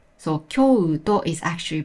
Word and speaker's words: きょうと: The u after the vowel o is pronounced as o. So Kyoto is actually pronounced as Kyo-o-to.